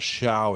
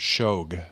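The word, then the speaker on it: Shough: Uh but the Saints 20 I've been saying this name wrong for weeks. It's not Shiao, it's Shog. Yeah. I was listening to some clips today. They keep calling him Shog.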